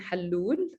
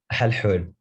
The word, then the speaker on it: Halhoul: And our last panelist for today is Halloul, or Halloul. Am I It's pronouncing your Halhoul, but yeah, thank you.